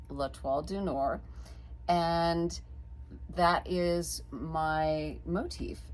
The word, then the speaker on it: L'Étoile du Nord: That is the Star of the North, which in French is pronounced L'Étoile du Nord.